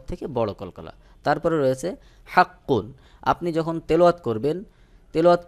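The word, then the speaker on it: حقّ: হরফে কিন্তু তাসদিদ রয়েছে, তখন সহি উচ্চারণ হলো হাক্ক, হাক্ক। কফের মাখরাজে যে আওয়াজটাকে একটু চেপে ধরে একটু দীর্ঘ করে পরে জবরের মতো হালকা আওয়াজ করে দিতে হবে। যেমন হাক্ক, হাক্ক, হালকা করে। পুরোপুরি যদি আপনি হাক্ক বলেন তাহলে কিন্তু এখানে জবর চলে আসবে, ওটা সহি উচ্চারণ হবে না।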